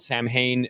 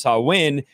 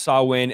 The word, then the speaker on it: Samhain: Channel's article on sawin some call it Sam Hayne it's pronounced sawin because it's not a